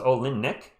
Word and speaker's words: Olynyk: Oh, it's Olinick. Oh, okay, that's how they were pronouncing him on the Olinick.